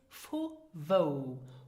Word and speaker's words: vu wou: And the third one is fu wo, where from. Now listen and repeat again for the correct pronunciation.